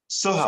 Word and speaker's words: Soha: Soha, I think it's Soha, I think that's the way you pronounce it. And I've been corrected on that. Go ahead, Ash. Soha. Soha? Yes. Dr. Soha.